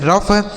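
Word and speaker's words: rough: जैसे हमने पढ़ा टी ओ यू जी एच टफ सी ओ यू जी एच कफ आर ओ यू जी एच रफ ई एन ओ यू जी एच इनफ एस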